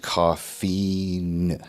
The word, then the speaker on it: Daniel Coffeen: It's pronounced Koffee-n.